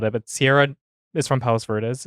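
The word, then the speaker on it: Palos Verdes: but Sierra is from Palace veres is how you pronounce it Palace veres yes and Friday I saw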